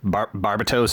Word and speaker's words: Barbatos: Barbatos, I believe is how it's pronounced in the English dub.